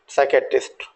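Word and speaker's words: psychiatrist: आप यहाँ भी देखेंगे कि ये जो पी लेटर्स हैं इनको भी हमने यहाँ साइलेंट रखा है, राइट। तो साइकोथेरेपी, साइकोटिक एंड साइकेट्रिस्ट।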